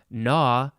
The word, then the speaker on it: gnaw: from com plus roderie which means to gnaw nah i don't know why i didn't say this before it is spelled g-n-a-w uh oh and there's